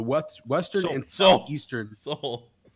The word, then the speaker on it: Seoul: Western and self eastern Seoul so like the salt like soul music there you go like